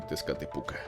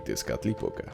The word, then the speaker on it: Tezcatlipoca: no nos pronunciemos ansí los españoles los conocían al no poder pronunciar huitzilopochtli idescat época los conocían como gucci lobo y pesca típica pero no me empezó